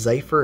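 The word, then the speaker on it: Xipher: was designed by um i believe it's pronounced cipher it's x-i-p-h-e-r i will throw a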